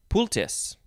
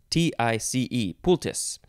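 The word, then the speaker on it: poultice: we just have the synonym uh pultis i'm just going to say that's how it's pronounced p-o-u-l-t-i-c-e pultis sure why not this is from let's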